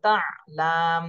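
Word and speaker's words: تَعَالَى: দিচ্ছি তা আইন জবর তা লাম জবর লা তা আলা আইনের উচ্চারণটা গলার মধ্যে আটকায়ে যাবে এভাবে বলতে হবে তা আইন জবর তা লাম জবর লা তালা মিম ওয়াও পেশ মু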